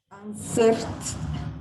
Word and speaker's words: answered: Porque acuérdate que como termina en R, yo no separo la sílaba. Yo no digo answered, sino answer. O sea, siempre es esa clave que tú tienes que coger. Si termina en T o en D, agrego sílaba. Si no termina en T o D, cualquier otra letra, no le agrego una sílaba de más.